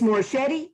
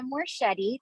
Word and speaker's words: Morshetti: sir thank you um miss moore shetty is that correct pronunciation yes you said that beautifully um my name is morshetti thank you so much